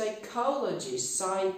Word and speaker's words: psychologist: P przed S-ką milknie bardzo często w wyrazach typu psychic, psychiatrist, psychiatrist, psychologist, psychosis.